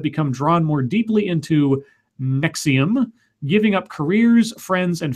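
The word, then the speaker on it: NXIVM: in courses offered by Nick sebum our sorry pronounced nexium okay nexium weird which it says are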